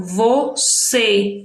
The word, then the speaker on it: você: seja, nesta letrinha aqui, a sílaba vai ter um som fechado. Você. É o mesmo caso de vovô. Ok? Então, nesse caso aqui, o acento circunflexo, ele foi usado para marcar a sílaba mais forte.